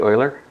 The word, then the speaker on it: Euler: Uh Koshi Oiler.